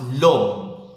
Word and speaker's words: l'homme: It begins with a silent H and it ends with an E, but it is masculine. It means man. So, L apostrophe homme, so l'homme. It's pronounced l'homme.